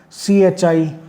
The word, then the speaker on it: chi: This is the symbol and it is pronounced as CHI, chi.